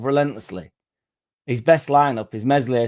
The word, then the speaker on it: Meslier: His best lineup is Meslier, Silent S in net, Bogle right back, Firpo left back, Struick and Rodon centre back, AMPADU and Tanaka in the centre.